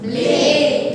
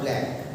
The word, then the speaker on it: Blake: William Blake. Not Black. It is not a B-L-A-C-K. It is B-L-A-K-E. So William Blake.